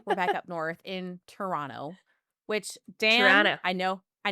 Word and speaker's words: Toronto: It took me a while to drop that second T, Dan, so I get it.